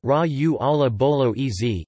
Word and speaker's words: ragù alla bolognese: Bolognese sauce UK, US, known in Italian as ragù alla bolognese, pronounced ragù alla bolognese, ese, ragù bolognese, or simply ragù, is a meat-based sauce originating from Bologna, Italy, hence the name.